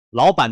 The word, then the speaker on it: 老板: 「老班」中的「班」和「阿姨」中的「伊」都是中性音。